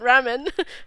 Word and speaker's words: Ramen: Not Raymond, Ramen. Oh, I don't know how you pronounce it actually. It's ramen. Ramen, yeah, like the pastas, the noodles.